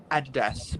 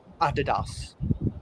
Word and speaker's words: adidas: it's a pretty easy american adidas i know they say it like that and uh like a lot of australians say like adidas yeah i'd death but i prefer adidas like what the europeans would say anyway that's that's the